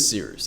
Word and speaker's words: Cyrus: My name is Seeroost. It's spelled like Cyrus, pronounced like Sea Rooster, just take out the terror.